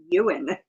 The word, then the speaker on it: Ewan: And I I love uh I actually been pronouncing his name wrong. I used to say Ewan McGregor. It's Euan McGregor.